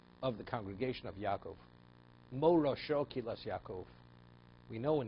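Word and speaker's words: מורשה: So if you pronounce the shin like a sin, it would be morasha.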